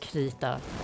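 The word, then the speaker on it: Krita: And so fun fact the that's actually pronounced kita kita and it means um it means crayon in Swedish and Danish I think but I guess in English everyone pronounce it like crea this tank is going to die.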